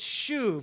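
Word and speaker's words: שוב: actually this word and it's Shu just say Shu Shu it's kind of a fun word to write I picked it because it's one syllable um just Shu but here's what it simply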